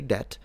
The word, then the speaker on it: debt: for him, it's like he'll forget that this B is there. I'm not him, but I'm saying a native English speaker will still pronounce it right. They will say debt, but because they know